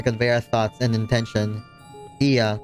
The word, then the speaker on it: Ea: When the vibration of vocal folds was still required to convey our thoughts and intention, Iya, I believe, was the pronunciation used when referring to our people.